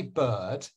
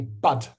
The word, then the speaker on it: bird: heart work so when with my Myanmar friends they can't say bird they say bud but but but but